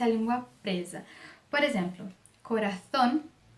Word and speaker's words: corazón: Por exemplo, corazón, zapato.